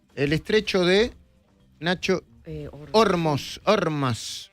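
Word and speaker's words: Ormuz: Ormas, no es Ormus y se no y se pronuncia Ormas, ¿no?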